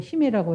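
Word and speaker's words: 姫: 2000년의 역사 있다는 게 정말 이것도 좀 저는 재밌는 부분인데 일본에서도 히메라고 해서 희를 히메라고 이제 발음을 한대요.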